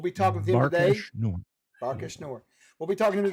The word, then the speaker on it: Barkash Nour: Quest for the Teeth of How do you pronounce it again exactly, Bill? The Quest for the Teeth of the Barkash Nor. Barkash Nor. There you go. We'll be talking with him today. Barkash Nor.